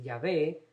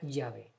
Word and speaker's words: Yahvé: Universidad Lateranense en Roma, la pronunciación más cercana a la antigua del tetragrama, de las 4 consonantes que componen el nombre de Dios sin vocales, era Yahvé. Se colocaba las vocales abiertas, la A y luego la E.